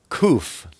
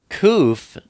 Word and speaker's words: Kuf: Then we have kuf. Kuf is the number 100, and it's pronounced like a K, like cough.